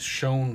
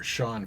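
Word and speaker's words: Chone: the triples leader is shown Figgins or Sean Figgins I think he pronounced it with 27 triples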